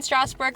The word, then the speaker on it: Strasbourg: We had a good time in Strasbourg last night.